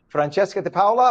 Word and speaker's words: Francesca DiPaola: Good morning, and I'm hoping, is it Francesca DiPaola? Am I pronouncing it properly in Italiano? Absolutely, that's correct.